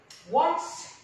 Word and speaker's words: once: Once here we pronounce O and N, W, what sound of W.